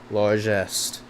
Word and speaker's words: largesse: Largesse.